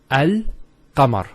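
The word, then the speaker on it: القمر: Let's first of all start with Al-Qamar. How do we pronounce this? It's Al-Qamar. So Al-Qamar. So there's a sukoon there on top of the lam. And it's Al-Qamar. There's no issues with that.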